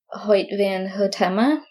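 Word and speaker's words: Hoyte van Hoytema: of Photography is I don't know how to pronounce his name exactly I want to say it's hoit van hota I don't know sorry if that's not right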